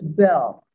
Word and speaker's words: Beall: In 1852, the brothers Robert and Thomas Beall, or do you pronounce it Bell? There's always some controversy. It's Bell. Okay, that's official.